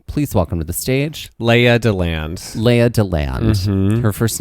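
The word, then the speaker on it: Lea DeLand: So, ladies and gentlemen, please welcome to the stage Leah DeLand. Leah DeLand. Her first name is spelled Lea, and then her last name is spelled little D-E, and then land, capital L-A-N-D.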